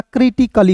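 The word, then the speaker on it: critically: ए का उच्चारण नहीं करना है। डबल एल का उच्चारण ल के रूप में और याद रखिएगा अंतिम में जब भी आपको वाई दिखता है ना तो उसका उच्चारण दोस्तों इ के रूप में करते हैं। तो बताइए दोस्त क्या हो जाएगा? क्रिटिकली हो जाएगा।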